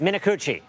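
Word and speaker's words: Minicucci: And you spoke with Alaska Airlines CEO Ben Min, you're going to have to pronounce his last name for me in an exclusive interview about these delays. Minuchi.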